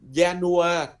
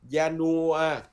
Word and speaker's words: Januar: Đó là ba âm Janua, Janua.